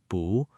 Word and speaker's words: 不: So 不 changes to 不 , a second tone. Therefore, not at or not in becomes 不在 . Make sure to pronounce 不 as 不 in this context.